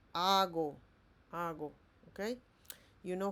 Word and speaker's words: hago: Also, we don't say heigo. We say hago.